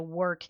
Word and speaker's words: WERQ: She was my work instructor. And for anybody who doesn't know, work is spelled WERQ, and it is a dance fitness class.